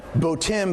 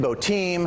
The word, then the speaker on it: Boatim: you got bodum right a lot of people are like how do we even pronounce this bowtim botem okay vote i am bodum actually means boat international marketplace and it can be called all three that's that's just fine